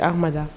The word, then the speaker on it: Artmada: C'est Mada ou c'est Armada? C'est Armada. Sur Armada.